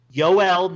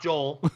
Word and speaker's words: Yoel: Yoel, not Joel.